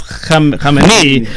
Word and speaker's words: Khamenei: This is Khamenei. It's all about the accent on the last syllable.